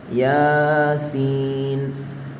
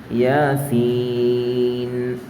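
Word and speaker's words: يس: യാസീൻ തുടങ്ങട്ടെ യാസീൻ ഓക്കേ ഇവിടെ യാസീൻ ഇങ്ങനെയല്ല യാസീൻ ഇതാണ് യാ ഒരൊറ്റ അലിഫിന്റെ ഖദറും സീൻ എന്നുള്ളത് മൂന്ന് അലിഫിന്റെ ഖദറും യാസീൻ ഖുർആനിൽ മാഷാ അള്ളാ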